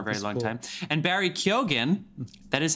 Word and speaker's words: Keoghan: And Barry Keoghan, that is how you say that name, who was in Killing of a Sacred Deer with Colin Farrell.